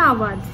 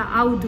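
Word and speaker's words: আওধ: তো ওই সেন্সে একচুয়াল প্রোনাউন্সিয়েশনটা আবাদ। সেটাকে আমরা বাঙালিরা আউদ বলি।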